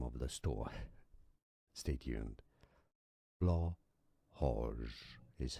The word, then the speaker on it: Blåhaj: Well, there's a video on how to pronounce that name. The name of the store. Stay tuned. Blahoj is how it is said in Swedish.